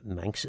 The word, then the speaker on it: Magher: Ma in Manx, it's actually spelt Magher. Ma is, but it's pronounced Ma. The GH is a sound in the middle, so Ma.